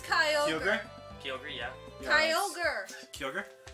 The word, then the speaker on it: Kyogre: It's the same one, just different pronunciation. It's actually pronounced the Kyogre. The whale blue thing? It's Kyogre.